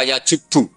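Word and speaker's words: يجبّ: Itu bacanya bukan yajibu tapi apa? Yajubbu aq.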